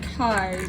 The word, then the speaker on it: Kai: Also, it is spelled Kai, but it is I like to say K.